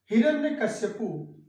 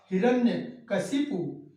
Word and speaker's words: हिरण्यकशिपु: हिरण्यकश्यप को भगवान नरसिंह ने समाप्त किया था, तो हिरण्यकश्यप हिरण्यकश्यप हिरण्यकश्यप, अक्सर हम यही जानते हैं, यही बोलते हैं, यही लिखते हैं, लेकिन इसका सही रूप होगा हिरण्यकशिपु।